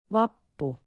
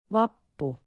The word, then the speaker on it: Vappu: It is Vappu, pronounced Vappu. Vappu. Vappu.